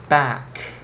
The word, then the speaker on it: back: one more time have back back not B don't say B say back happy happy PR Japanese